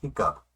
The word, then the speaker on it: hiccup: 히값. 딸꾹질을 하다 뭐 이런 뜻을 가진 단어입니다. 발음 비슷한 걸로 한번 암기해 보죠. 무서운 것을 보고 히껍이 아니라 시겁해서 딸꾹질을 했다.